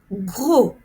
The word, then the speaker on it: gros: dos me fait mal gros trop regardez ici je ne prononce pas le S et je ne prononce pas le P gros trop vous avez